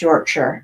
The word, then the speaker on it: Yorkshire: But if you're talking about somebody from England, it's pronounced Yorkshire over there.